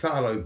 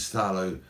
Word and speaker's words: phthalo: blend really well and it's spelt p h t h a l o there's like loads of constants therefore later on when